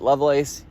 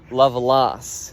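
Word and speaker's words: Lovelace: who are pronouncing it level Ace you're wrong it's pronounced love loss not love lace I can't believe that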